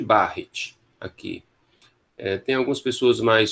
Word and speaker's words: Barrett: Um esôfago de Barrett. Esôfago de Barrett. Muito bem. A gente chama esôfago de Barrett aqui.